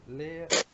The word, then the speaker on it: Leiria: No, that's not how you say it. Leiria. Where the hell is that? Lira, Where's Portugal, isn't it?